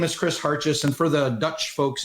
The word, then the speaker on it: Hartjes: real world uh so my name is chris harches and for the dutch folks in the audience uh yes i do have a dutch last name i believe it's actually properly pronounced heart yes it means little hearts my uh father's family